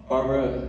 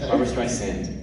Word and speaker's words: Barbra: let you do just say her name correctly barbara streisand barbra so uh was she